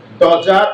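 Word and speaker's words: dodger: বিখ্যাত হতে সাহায্য করেছিল অ্যাজ a successful ডজার of retribution. তো আবার ডগার বলো না, এটা ডজার, এটা সাইলেন্ট ওয়ার্ড। বলছে একজন সফল শাস্তি থেকে রক্ষা পাওয়া ব্যক্তি।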